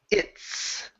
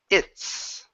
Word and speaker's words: it's: Next one here is it's. Okay, so combining the T and the S together, this is tricky. Okay, so pronounce that T first, then the S. It's.